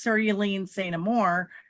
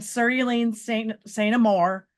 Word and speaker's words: Cerulean Saint Amour: it for my character, whose name is Cerulean Saint Amour, and it's cerulean like the color cerulean. She says her parents didn't know how to say it, so they just put it as cerulean.